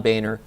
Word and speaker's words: Boehner: text, is it's like John Boehner, pronounced Boehner is what the story says, the AP Wire Service